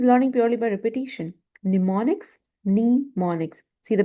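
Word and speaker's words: mnemonics: Nemonics. See the pronunciation.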